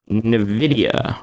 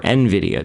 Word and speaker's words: Nvidia: Bang at 26974 plus Nidia or Nvidia depending on how you want to pronounce it um a couple things